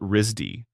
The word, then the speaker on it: RISD: People in the know call it Risdy. They pronounce it like the word RZY.